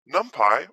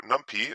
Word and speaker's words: NumPy: numpy or numpy acceptable write or pronounce it